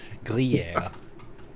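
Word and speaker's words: Gruyère: It's a French Gruyere. word. Yeah. Understood. Thank you. Emphasis on the yeah. Gruyere.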